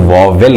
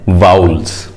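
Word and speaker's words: vowels: इसका गलत प्रोनाउंसिएशन मत करिएगा, इसको कई बार लोग वॉवेल कहते हैं, जो कि गलत है। सही प्रोनाउंसिएशन होता है वाउल्स, कॉन्सोनेंट्स एंड वाउल्स।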